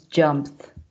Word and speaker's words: jumped: If we say jump, the past is jumped with the sound of T at the end.